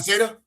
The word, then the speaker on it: Cena: Is that how you pronounce it, Cena? Yeah, John Cena.